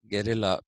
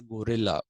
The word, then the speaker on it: guerrilla: This particular idea of security, guerrilla warfare, Geurilla, guerrilla. People say gorilla, please. It's not guerrilla warfare. We don't fight like gorillas. They are apes, and we are not. So, guerrilla warfare is how you should be pronouncing it.